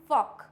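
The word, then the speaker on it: folk: फॉक clear हो गया इसको फॉल्क नहीं पढ़ते हैं इसको पढ़ते हैं हम फॉक डन चलिए आगे बढ़ते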